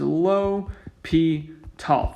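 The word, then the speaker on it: L'Hôpital: of how it's spelled the pronunciation guide for this is low p tall famous french mathematician really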